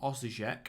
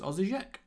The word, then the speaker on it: Osijek: It is, in fact, the Croatian team Osijek. I think it's Osijek.